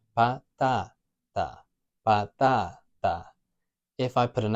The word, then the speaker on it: patata: So a word that ends in an A, like patata, has 3 syllables, patata, and we've got that a vowel sound, a, patata, nice and simple, 3 syllables, there's no accent, no tilde. So it's going to be the second to last syllable, the strong one, patata, patata.